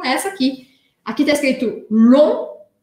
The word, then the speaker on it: long: Então, essa primeira palavra aqui, primeira coisa importante de eu saber é que o G em francês ao final da palavra, assim como o T ao final da palavra, eu não vou pronunciar.